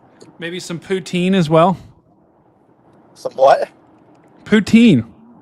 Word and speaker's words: poutine: So I can know how to if I'm pronouncing it correctly. Wow. You expect him to know what poutine is and you don't know who the doors are.